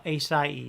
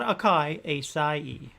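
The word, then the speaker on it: açaí: i pronounced it right acai uh acai not akai it's kind of like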